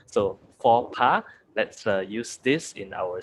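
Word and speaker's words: faux pas: uh speaking uh way so the word is pronounced so it's it's written like it's fox pass but it's for pa so everybody say it together with me you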